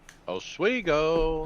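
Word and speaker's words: Oswego: Modified return to the Empire State Showdown at Oiggo Speedway. Did I say it right, Greg? Yeah. Is it swiggo or swo? Ogo.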